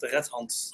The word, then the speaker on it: Rethans: You pronounce it Rethans. Rethans.